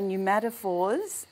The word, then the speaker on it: pneumatophores: the new matap fors okay pneumatophores um spelled with a p like pneumonia to do with air